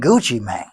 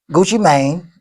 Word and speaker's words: Gucci Mane: Well, Pushisty and Gucci Mane, I think Gucci Man, Gucci Mane, Gucci Mane, you got to say his name right.